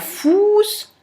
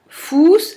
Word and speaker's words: Fuß: Der Fuß, der Fluss. On entend bien que Fuß, c'est beaucoup plus long que le OU de Fluss.